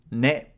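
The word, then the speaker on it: ね: Ne. Ne is pronounced like ne in Nelly.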